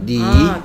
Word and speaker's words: knee: 오케이, 소리는 니입니다, 니.